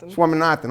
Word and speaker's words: Swaminathan: Swaminathan? Swaminathan.